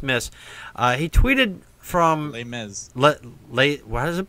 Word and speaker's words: Les Mis: movie uh let's Miss uh he tweeted from Les Miz late what is it pronounced Les Mis Les Mis okay all right Les Mis lay flat never